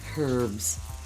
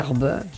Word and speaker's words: herbs: The herbs. See? How do you say it in Canada? I always say herbs. Herbe. Herb. So it's the same That's thing. the French. It's the silent H.